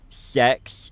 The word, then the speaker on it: CeX: Just I just I went to the shop CEX, which is They actually pronounce sex in the adverts.